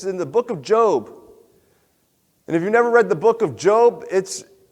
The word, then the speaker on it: Job: If you read it, it looks like Job, but we pronounce it Job.